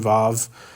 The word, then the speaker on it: vav: Anytime you see the simple conjunction vav, that's how we would pronounce this.